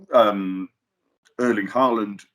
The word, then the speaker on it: Erling Haaland: I mean, Erling Haaland. I apologise if my pronunciation is off, but no, that's good. Erling Haaland, very good.